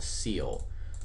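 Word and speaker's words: ceil: right here and that is called seal and it's spelled c e i l which just stands for cealing and what this function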